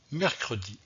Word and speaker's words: mercredi: n'est pas possible donc garder le e pour bien prononcé le mot mercredi donc on joue les